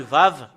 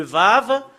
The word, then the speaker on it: ו: Le fait de prononcer ce Vav, avec les choses qui se passent en ce moment, c'est V qu'on le prononce.